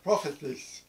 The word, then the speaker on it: prophetes: And it's pronounced prophetes, which is a compound of words.